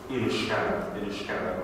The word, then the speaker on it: Inniscarra: And Inniscarra, not too far away, is spelt with just one N and with a H. And again, I think that would probably match the pronunciation of the local people, Inniscarra, rather than with two N's that you'd often see it with.